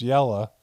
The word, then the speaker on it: Jel: This is because it was also the day I found out that my partner of 2 years, Jel, pronounced Yella, Freshen, at age 37, had stage 4 brain cancer.